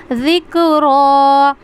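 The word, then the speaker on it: ذِكْرَىٰ: ज़बर र को पढ़ेंगे ठीक है कैसे पढ़ेंगे जिक्र यम इज़ तकरुल इंसानु व अनहु जिक्र ठीक है।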